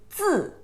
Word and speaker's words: 字: The pronunciation is 字, 写字, your right character.